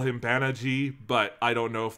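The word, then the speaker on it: Banagher: like i it clearly if you look at the spelling it's supposed to be pronounced baniger um but let's just go with like banaji let's just stick with the japanese because he is one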